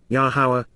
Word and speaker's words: Yahowah: Yahowah, the proper pronunciation of Yahowah, our Eloah, God as directed